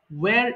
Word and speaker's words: where: বলি আরেকটা হচ্ছে ওয়্যার এখানেও হচ্ছে H এর উচ্চারণ দরকার নেই ওয়্যার কোথায় ওয়্যার is your home town where is your hometown তাহলে